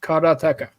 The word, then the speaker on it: karateka: So it's the way it's supposed to be said is karateka.